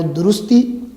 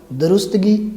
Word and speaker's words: درستی: لفظ تھے, الفاظ تھے, وہ تھے صحیح جو ہے وہ درستی پہلا, دوسرا حیرانی اور تیسرا ناراضی, جو آج تک ہم درستگی, حیرانگی اور ناراضگی کہتے رہے ہیں.